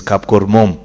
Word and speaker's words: Kapkormom: The proper way to pronounce that name is Kapkormom.